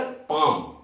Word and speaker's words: palm: इसमें भी लोग पाल्म बोल देते हैं, जो कि गलत है, इसमें L साइलेंट होता है, L साइलेंट होता है तो उसका उच्चारण हो जाएगा पाम, PALM, पाम।